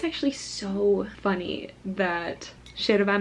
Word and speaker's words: yerba: But in Argentinian culture, it's pronounced yerba, because they pronounce their Y's like a sh, because we pronounce our Y's like a sh. And then what looks like mate is mate.